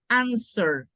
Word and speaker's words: answer: Esta de aquí, la W es silenciosa, entonces es answer.